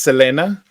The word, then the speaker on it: Selena: this is Selena or Selena it would be pronounced Selena um boy it wouldn't be Selena because in